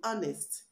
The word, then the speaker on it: honest: pronounced it is silent the H in honest is not pronounced it is silent and the H in